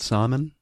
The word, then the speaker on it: salmon: Is it salmon? Salmon, I think, is how they say it in the audiobook. The salmon is the L in there.